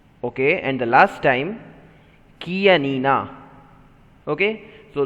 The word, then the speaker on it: Chianina: Chianina. Repeat it one more time. Chianina. Okay, and the last time, Chianina. Okay, so though it is CH, we are going to pronounce as K, Chianina.